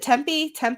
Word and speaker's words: Tempe: Is it Tempe? How do you say it? No, correct. Tempe. First okay. The first one.